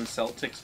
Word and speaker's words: Celtics: roger that oh crits it's celtic with an s oh i mean that's how the boston celtics pronounce it oh even though it's celtic but they don't care they're from boston eugene knows how to